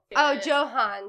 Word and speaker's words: Johann: is going to be John Conrad Dippel. Johann. Sorry, I read his name wrong. Johann Conrad Dippel, not John.